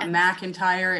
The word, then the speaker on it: McIntyre: And for the audio listeners, I think it's important to say that it's MC. It's not McIntyre, it's McIntyre when you type it. But when you pronounce it, you say Mac.